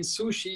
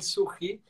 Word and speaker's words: Suchy: way of pronouncing uh i was saying sushi is called suhi and you took you